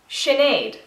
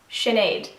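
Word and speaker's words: Sinéad: of the Rings so Gollum column it's easy Sinead sorry you pronounce this name and break it down would be Shin Aid Sinead and this is actually quite traditional Irish name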